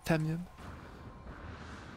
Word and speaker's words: tamium: Du tamium. Je le prononcerai pas à l'anglaise parce que je vais être ridicule. Le tamium. Tamium.